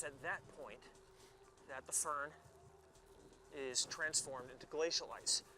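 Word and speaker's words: firn: impossible to shovel, called fern. Sounds like the plant.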